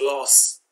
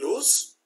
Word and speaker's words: lose: So, but remember, I hear a lot of people pronouncing L-O-S-E as loss, which is a wrong statement. L-O-O-S-E, lose, which is an adjective, which means loose shirt, loose pants, not firm.